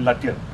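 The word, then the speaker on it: Lütjens: Lindemann, who was the man commanding, and Lutyen, the same as our Lutyen here, except it's spelled with a J.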